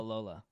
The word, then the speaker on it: Babalola: Babalola? Babalola.